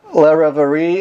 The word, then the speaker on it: Reverie: And Allie, you're the lead singer of the band Reverie. Am I pronouncing it right?